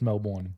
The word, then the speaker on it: Melbourne: my hometown Melbourne Florida um that one's actually pronounced Melbourne yeah Melbourne so that's why if Melbourne if